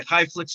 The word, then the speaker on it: ChaiFlicks: By the way, I just want to say Highflix is spelled ChaiFlicks.